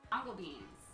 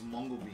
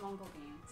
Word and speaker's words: mongo beans: Mango beans. Oh, yes! I don't know if you pronounce it mango beans. I think it's mongo beans. I said mongo beans.